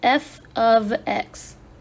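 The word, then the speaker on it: f(x): Function notation is pronounced f of x.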